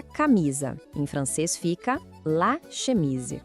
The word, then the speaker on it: chemise: Aquele som de sh, de pedir silêncio. Vamos tentar? Chemise. Isso. Mais uma vez, para fixar. La chemise.